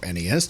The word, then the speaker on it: NES: clue kicking off with the Nez or NES depending on what side of the fencer on that pronunciation in 1985 or arguably